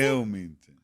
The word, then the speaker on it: Wilmington: It's an I, not an O. She said Wilmington. Oh, wait, how do you pronounce it? Wilmington.